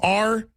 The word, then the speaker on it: Rahami: Ahmed Khan, how do you pronounce his last name? Rahami, Rahami.